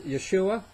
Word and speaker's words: Yeshua: Okay, and by the way, it's Yeshua.